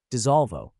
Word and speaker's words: Dissolvo: Dissolvo. Three syllables, stress on the second.